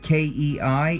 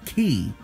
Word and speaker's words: Kei: lightweight k-car cup that Kei it looks like it's supposed to be pronounced tea well bear in mind it will be K like the letter K the e axe is